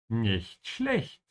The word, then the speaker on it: nicht schlecht: learner struggling with pronunciation, make sure to open your mouth on the ch's here. Ja, nicht schlecht. So your teeth should not be touching in the middle of both these words.